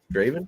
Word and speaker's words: Draven: I think it's Draven. Is an R in there, right? Draven? Yep.